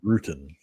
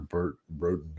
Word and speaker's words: Bruton: And he actually said his name in this one, so now I understand exactly how to pronounce it. It's Bruton. I think I was calling him Burton or Broden or something like that before.